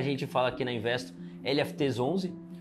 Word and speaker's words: LFTS11: da Carteira do lfts11 lft 11 né Essa é a pronúncia correta obrigado pela oportunidade a